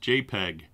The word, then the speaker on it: JPEG: might take a while jpg files were developed by joint photographic experts group commonly pronounced jpeg this is the most